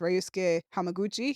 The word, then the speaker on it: Ryusuke Hamaguchi: I do want to mention, shout out to, I believe his name is pronounced Ryusuke Hamaguchi.